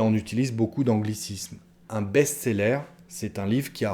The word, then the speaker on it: best-seller: succès on parle d'un best-seller à la française encore on le prononce à la française un best-seller c'est un livre qui